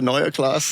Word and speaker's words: Neue Klasse: Neuer class. Please the German in the group. Go ahead. It's the Neuer class. Yeah, you have to pronounce it correctly.